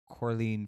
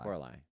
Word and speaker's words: Coralie: for Amelia Perez, and Coraline Farge, I think, that's how you say her name, for The Substance. Coralie. I think it's Coralie.